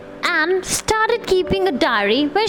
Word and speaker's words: Anne: And he started keeping, see, many people call it Annie, but the pronunciation is Anne. Anne started keeping a diary when she was just 13.